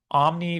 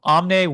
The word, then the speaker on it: omne: the basically natural law, omni vivum ex vivo. Or if you actually pronounce it in the correct Latin, it would be omne vivum ex vivo, or all life comes from life.